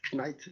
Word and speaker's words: Knight: Alors, on ne prononce jamais le K après, dès qu'il y a un N qui le suit en anglais. Donc, comme par exemple Dark, on dit pas Dark Knight, Knight, on dit Dark Knight.